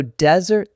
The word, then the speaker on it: desert: But the noun desert, the dry place, is first syllable stress. So desert, the place, and dessert,